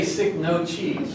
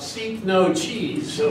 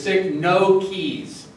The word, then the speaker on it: Cycnoches: But first, how do you pronounce that? Right? I say Cycnoches, and I don't know if that's right, because